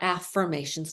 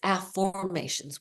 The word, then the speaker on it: AfFORmations: not pronouncing it incorrectly it's not affirmations not with an i it's affirmations with an O and Noah St John